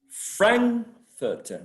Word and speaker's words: Frankfurter: Frankfurter, right? Frankfurter. So Frankfurt keeps the same stress on the same syllable. Frankfurter. So we are adding suffix, but the suffix is not changing the stress.